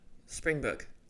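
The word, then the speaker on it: Springbrook: you and said, "Oh, Springbook, mate, Springbook." All right. He sort of gives you the impression there's an R when it's written out, but people drop the R when they pronounce it.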